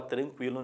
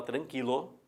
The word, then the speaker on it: tranquilo: e ninguém fala aguentar, e qualquer um fala tranquilo, ninguém fala tranquilo, que eu já duvido, que eu já escutei, tá?